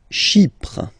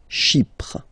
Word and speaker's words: Chypre: Chypre. Chypre. So remember, we've got this Y letter here, but then phonetically when you pronounce it, it's like I, okay? Chypre.